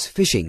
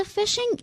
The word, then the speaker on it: phishing: Well, the word fish is pronounced just like fish. The phishing email perhaps uses the